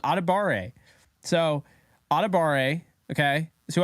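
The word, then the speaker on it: Adebawore: But in this draft, real draft, I would go a Debawar. Oh no, I'm saying it wrong. Adebare.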